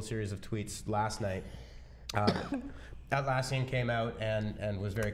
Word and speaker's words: Atlassian: Atlassian, you got it.